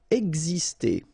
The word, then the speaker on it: exister: Exister. Okay, so it's really this X here, it's pronounced like X, X, exister.